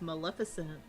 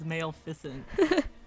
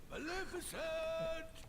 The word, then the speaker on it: Maleficent: it a Dream It's Maleficent remember I pronounced Maleficent as male fent and then when they finally like pronounce your name I'm like who's that